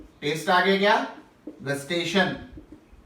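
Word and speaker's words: gustation: और अगला बात कर रहे हैं टेस्ट का, टेस्ट आगे क्या, गस्टेशन, जेस्टेशन मत बोलिएगा, देखिए स्पेलिंग लगा जाती है, बन जाता है जेस्टेशन आएगा तो प्रेगनेंसी की तरफ निकल जाएंगे, गस्टेशन सूंघना चखना।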